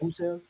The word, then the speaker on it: güzel: Çok, Did I not say çok güzel? That's what I meant. Gu. It's like a umlaut U in German.